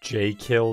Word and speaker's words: Jekyll: the game only is jekylls pronounce j kill that would open up